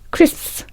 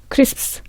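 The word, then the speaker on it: crisps: 크리스 있어요 - 3 발음은 크 esf 스 이렇게 얘기를 해야 됩니다 그 여기서 될 그 이 스 프 스 인 데임 아무도 그렇게 천천히 얘기 아니에요 굉장히 빠르게 여기에 그 s 부터 sps 갈 아 연속적으로 있기 때문에 여기 중앙 모음 양께서 발음을 어 되게 압축적으로 빨리 해야 되거든요 그래서 크리스 크리스 이렇게 굉장히 빨리 합니다 그러니까 어 rlc 응당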